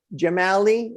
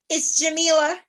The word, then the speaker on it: Jamila: Jamali, is that correct? It's Jamila.